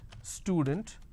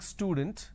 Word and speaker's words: student: For example, the word student, instead of saying student, a lot of people pronounce this as student. So they add sh, they start it with sh instead of s.